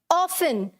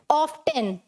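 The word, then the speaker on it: often: अब कुछ लोग इसे कैसे बोलते हैं? ऑफ्टन। क्या बोलते हैं? ऑफ्टन। तो यहाँ का ये जो टी है, ये वाला जो टी है, इट इज साइलेंट। ये टी क्या होता है यहाँ पर? साइलेंट।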